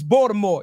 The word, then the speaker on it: Baltimore: wait wait say say say it right is it balore bore bore wire like Snoop in this mother I love it Jess hilaris it's Baltimore you could tell when